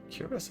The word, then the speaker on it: cuirass: Cuirass? I don't actually know how to pronounce that.